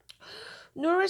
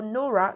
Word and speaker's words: Nora: Now these were the exact words Nora used, or Nora, sorry, when she was asking, Nora, sorry, okay? I was pronouncing this like our Arabic name, all right.